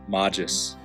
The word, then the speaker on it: magis: You once shared with me a reflection you wrote on the term magis, which is the root of magister and magistra, Latin words for teacher. We know that this M vowel soft G traces its foundations back